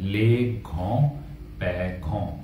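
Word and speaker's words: grands-parents: यहाँ प्रोनाउंसिएशन है घों। अब जो ग्रैंड के आखिरी में एस जुड़ रहा है उसे हम प्रोनाउंस नहीं करते हैं।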